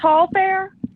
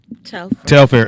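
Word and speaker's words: Telfar: Is it pronounced Tall Fair? Telfair. It looked like Telfair.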